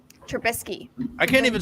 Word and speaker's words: Trubisky: mitch trabinsky nope i always say his name wrong i can't say it trubisky i can't even say